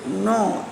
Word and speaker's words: know: KNOW, नो इसलिए क्या होगा, जानना, जानना। फिर है क्रॉस, यहाँ पर के है वो साइलेंट है, नो मतलब कि जाना, किसी भी चीज़ को हम जानते हैं।